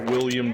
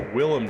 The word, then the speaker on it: Willem: Have you ever seen that William Dafoe crazy gif? Or Willem Dafoe, I always say his name wrong.